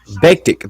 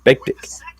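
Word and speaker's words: Bektić: Bektik, that's how you pronounce it. Bektik.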